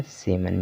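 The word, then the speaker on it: salmon: तरह से पढ़ा जाएगा, सेमन भी इसी तरह से पढ़ा जाएगा। तो सभी वर्ड में क्या है कि यम से पहले यल आया हुआ है और यल का उच्चारण नहीं हो रहा है।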